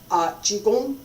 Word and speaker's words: Qigong: Qigong, and that's the pronunciation, by the way.